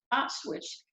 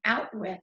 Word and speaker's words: Auschwitz: Auschwitz. And so that's what he's saying, out with. He's not pronouncing it correctly because he's 9 and he doesn't really understand what it is.